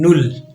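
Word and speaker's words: null: को basically German language में कहा जाता है नल नल मैं साथ प्रोनाउंस भी करूंगा आप भी मेरे साथ साथ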